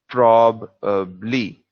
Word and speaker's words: probably: part of the word in this one it's going to be the first part of the word it's prob prob as a problem of but not pro as in professional so it's probe lee repeat after me prob